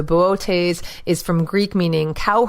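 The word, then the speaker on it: Boötes: Plowman or cow herder I'll spell it for you it's Bo OTE s with an M lot over the second ohso bootays is from greek meaning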